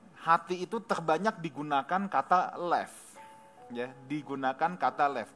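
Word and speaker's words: לב: Nah, menariknya Bapak Ibu, dalam bahasa Ibrani, hati itu terbanyak digunakan kata lev. Ya, digunakan kata lev.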